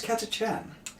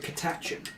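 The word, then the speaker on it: Catachan: yeah but maca right so how would you pronounce katachan yeah lots of english people pronounce it catachon yes that's because they're wrong and no no that's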